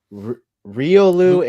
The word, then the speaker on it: Riolu: Well, it's Riolu and Lucario.